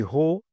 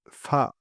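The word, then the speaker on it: 法: Le candy ho qui se prononce fa en chinois signifie loi, méthode ou principe.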